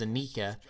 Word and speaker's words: Anika: sold separately but then the official pronunciation is anika and then it gets